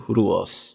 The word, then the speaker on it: Rus: heard from again and the original pronunciation of Rus is closer to ruos Vikings go to row